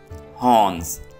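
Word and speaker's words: horns: हॉर्न्स, यहां पे are silent है।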